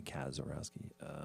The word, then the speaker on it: Kazarowski: So K-O-Z, Kaz, but it's really Kazarowski.